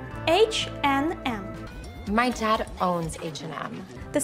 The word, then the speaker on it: H&M: Але між ними стоїть не три звуки and, а тільки два. H, N, M.